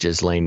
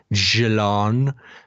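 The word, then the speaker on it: Ghislaine: say it oh we know that it's not pronounced just lane maxwell it's pronounced jalon um but uh she does not deserve the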